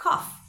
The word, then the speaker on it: cough: Y la G y la H que van a sonar como F. Entonces esta palabra será cough.